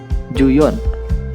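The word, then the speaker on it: 十四: Misal, untuk angka 14 menjadi juyon.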